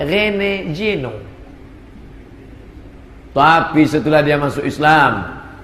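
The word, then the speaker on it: René Guénon: masuk Islam namanya siapa tulisannya r e n e g u e n o n Rene juenon cara membacanya Rene Jeno tapi setelah dia masuk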